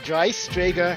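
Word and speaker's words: Dreistrager: Yes, Dry Strager Hanger 1.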